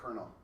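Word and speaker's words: colonel: across the head because the derivatives is from a French word that used to have an R then lost it but English kept the French pronunciation but the English spelling God that's why I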